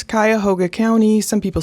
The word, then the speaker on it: Cuyahoga: It's interesting to hear people try and pronounce Cuyahoga County.